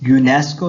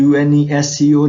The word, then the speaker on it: UNESCO: यूनेस्को है, इसमें UNESCO नहीं पढ़ा हमने, बल्कि हमने इसका एक पूरा वर्ड प्रोनाउंस किया है, तो यहाँ पे भी दा इस्तेमाल नहीं होगा.